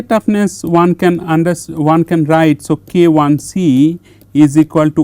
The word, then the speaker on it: KIC: So, KIC is wrong. So, you have to pronounce it as K1C because 1 has a specific meaning, 1 mean this is the mode 1 type of loading.